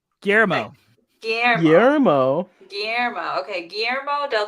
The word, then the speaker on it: Guillermo: And how do I pronounce what's his name? Guillermo. Guillermo.